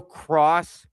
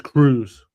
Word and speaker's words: Cruz: It's Cruz. Cross is if you had two S's.